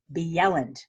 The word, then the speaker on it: Bjelland: ll a and D B Yelland what is that is that like snowy Jen oh no agents and they also pronounce the like the Y like I mean a J like a Y I'll be yelling it's